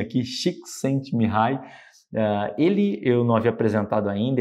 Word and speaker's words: Csikszentmihalyi: Esse nome complicado, deixei até como se pronuncia aqui, Csikszentmihalyi.